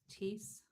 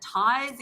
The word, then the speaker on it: Ties: I'm like, is it ties? Is it no Tees is good. Tees like Reese.